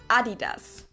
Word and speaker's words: Adidas: were referring to because they usually pronounce it Adidas, and in Germany we say Adidas.